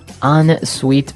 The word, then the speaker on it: ensuite: closet, we had an ensuite bathroom. Ensuite bathroom. Ensuite bathroom. Sorry, another note on the spelling here. It's E-N right? hyphen S-U-I-T-E. So even though it's E-N, we pronounce it like an O-N.